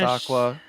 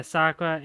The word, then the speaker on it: Issaquah: Also, Chiba is throwing down a gauntlet for pronunciations of Washington state names. Oh. Yes, Skokomish. Skokomish. Issaquah. Yeah, Issaquah and...